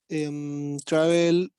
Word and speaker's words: traveled: Okay, in 2011, I traveled out of Chile for the first time. You traveled. Be careful with the pronunciation, Vicente. The ending.